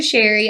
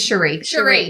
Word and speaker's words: Cherie: Because in my other office, it was a Sherry spelled like that. It's Cherie. Cherie. I swear. Yes, it's Cherie.